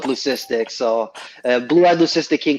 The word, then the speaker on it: leucistic: lucifer yeah yeah well it's technically pronounced lukistic but everyone says leucistic so i i always go with leucistic so blue hadley sister